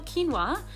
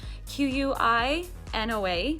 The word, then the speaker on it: quinoa: about grains for example quinoa q-u-i-n-o-a quinoa um most people pronounce that wrong it's kind of fun